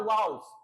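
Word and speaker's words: vowels: और अगर आप ओवेल्स पूछना चाहते हैं, यानी ओवेल्स उसका शुद्ध प्रोनाउंसिएशन होता है वाउल्स, वाउल्स को अगर पूछना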